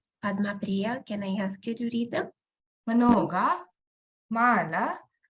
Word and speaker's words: много: Много, мало, когда. Again, pay attention when we pronounce a instead of o.